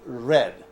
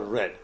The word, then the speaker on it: read: prison farm is read the past form is read like just like the color red you write it the